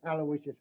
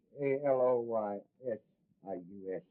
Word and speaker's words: Aloysius: It's A L O Y S I U S.